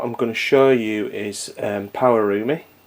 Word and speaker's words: Pawarumi: gonna show you is power roomie and that is how you say it and with something you